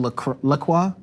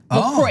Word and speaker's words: LaCroix: The company pronounces it LaCroix.